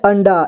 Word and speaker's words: अंडा: पे लिखा हुआ है अंडा ठीक है अन इसके बाद डा अंडा अगला है ठ ये